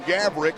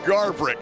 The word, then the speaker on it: Garverick: Yes, the dad said that I called him Gaverick, so you now still are calling him Gaverick. I corrected it 5 weeks ago. His dad will learn not to come to me for pronunciation. It's Ben Garverick.